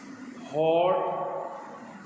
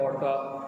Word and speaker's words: hot: Now this can often be said wrong. कुछ लोग इसको wrong pronounce भी करते हैं hot. So sometimes people pronounce these words wrongly. जैसे कि hot को कहते हैं होटा, वो लिखा हुआ है उसने होटा। dog को कहते हैं डॉगा, होटा डॉगा। This is wrong क्योंकि इसके अंदर देखें